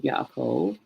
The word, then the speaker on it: Yaakov: This letter here is silent, but this marking here, this nikud here, tells us that this letter is going to have that short A sound. So Yaakov, his name is translated as heel grabber or supplanter.